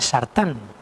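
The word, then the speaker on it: סרטן: De hecho, en hebreo, cáncer se pronuncia sartán.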